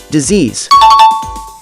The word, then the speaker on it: disease: cousin don't get caught mispronouncing this as dc's decease the correct pronunciation of this word as disease the mispronunciation of southern stems from the